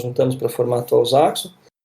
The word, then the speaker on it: Zaxo: Na Zaxo é Z-A-X-O, como se fala, como se escreve.